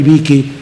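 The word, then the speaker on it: Beeke: Así que yo también quiero recomendar ese libro de Mary Vicky acerca de ese tema. Vicky se escribe B de burro, E-E-K-E.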